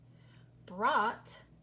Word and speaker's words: brought: a look at this do you see the silent letter pair here yes you do there's th I'm gonna mark those out because we know that we will not hear them but what I want to focus on very quickly is this oh you sound because just recently we learned that oh you says ow and in many many words it does say ow but in these words are you hearing out out Brout bout no